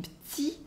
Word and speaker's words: petit: We have the E that disappears in petit. We have the un sound as well in train, and the T in petit is silent.